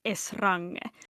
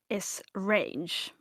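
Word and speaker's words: Esrange: has the I thought that this would be pronounced as Srang but is it's apparently S range.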